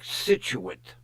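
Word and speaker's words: Scituate: If If you look at it, it's spelled weird. But she says it's pronounced like Situit, Rhode Island.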